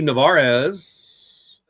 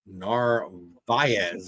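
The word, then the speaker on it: Narváez: Two two pitch from Mali to Navarez. Narvz, excuse me, I said it wrong.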